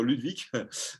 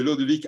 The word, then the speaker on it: Lodewijk: J'ai toujours envie de dire Ludwig, mais c'est Lodvik Allaert, si je prononce bien.